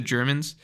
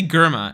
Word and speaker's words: Germa: I think I'm right Jordan Taylor says the Germans I used to say gurma and then everyone told me it's wrong they